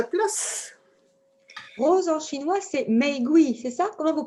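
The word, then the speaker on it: 玫瑰: Rose en chinois, c'est meigui, c'est ça? Comment vous prononcez? Meigui. Meigui.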